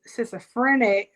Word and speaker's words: schizophrenia: So this is how you know when people are struggling with schizophrenia.